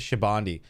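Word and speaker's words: Shabondy: the greatest thing ever i cringe at how ruff pronounces shabondi i know right it's almost as if i'm literally saying it exactly how it's said in japanese which we have literally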